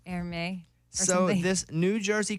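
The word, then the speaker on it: Hermès: it I think so it looks like Herms but it's like err me so in this New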